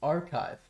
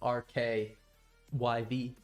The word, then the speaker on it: rkyv: been working on oh and it's pronounced archive oh that's beautiful that's a beautiful name and archive is way easier to say than RK yv archive yeah it's awesome uh